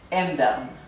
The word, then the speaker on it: ändern: Por ejemplo, la palabra ändern.